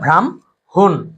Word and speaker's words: ব্রাহ্মণ: ব্রাহ্মণ হচ্ছে ভ্রাম, এরপর হচ্ছে হুন, তাহলে শব্দটা ভ্রাম হুন।